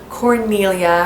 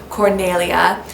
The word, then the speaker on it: Cornelia: story and that is Cornelia her name would have probably been pronounced Cornelia this is of course